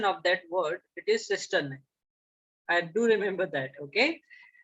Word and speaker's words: cisternae: Okay, someone in last class also asked me about the pronunciation of that word. It is cisternae.